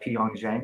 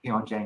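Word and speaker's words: Pyongyang: continued hostility toward uh Pong Jang. Is that how you say it? Pong Jen, right? Yeah. Pong Xen.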